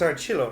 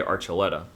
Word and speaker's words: Archila: thing that happens so it's AR chillo right well you pronounced it right thank you but most people say archeleta and that that was